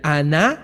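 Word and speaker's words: ענה: hebrea usada para benignidad es Ana con h al final Ana acento en la segunda a con h y dice bajar la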